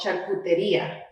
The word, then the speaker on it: Charcuteria: yeah yeah and in spanish it's actually called charcuteria so that's the name of my business actually